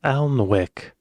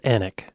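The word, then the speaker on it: Alnwick: quarma before finishing up in alwick an Al alwick but it's pronounced anic I could see how these these names that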